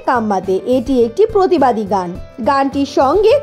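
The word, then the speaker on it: Ka mate: বেছে নেন সংসদ সদস্যরা সেই গানের একটি কথা শুনতে কম্বল দে এর মতো তবে শব্দটা কম্বলদের নয় হাঁকা গানটির উচ্চারণ কাম্মাতে কাম্মাতে এটি একটি প্রতিবাদী গানটির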